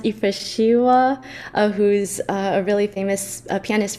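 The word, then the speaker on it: Yifrashewa: I think his name is pronounced Ifeshiwa, who's a really famous pianist from Ethiopia.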